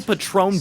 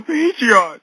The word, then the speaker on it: Patron: Using this swatting call as an example, the suspect claiming a shooting was happening at the local Patron bar in Scottsdale, but mispronounces the name. Road, it's on the local Patreon.